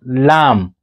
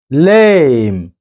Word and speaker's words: lame: And then this one is not lamb. Don't read it to be lamb. It is lame.